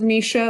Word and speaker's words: MSHSAA: an overview as far as the sections of misha that's how i pronounce it uh section two and section three